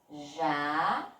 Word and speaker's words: jacaré: Qual foi a sílaba que eu botei mais força para falar? Exatamente, foi o pedacinho ré. Ó. Jacaré. Então, na palavra jacaré, a sílaba forte é o ré e, por coincidência, ela vem acentuada, certo?